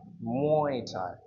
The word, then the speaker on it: Muay Thai: How do you pronounce it? Muay Thai? Muay Thai? Muay Thai.